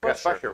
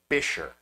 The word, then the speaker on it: Buescher: The correct pronunciation of this family name is Bisher.